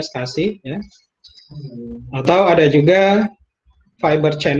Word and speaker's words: SCSI: Nah, contoh-contoh disk attachment yang sifatnya host attached ya, misalnya menggunakan SCSI gitu ya, SCSI ya, dibacanya SCSI ya.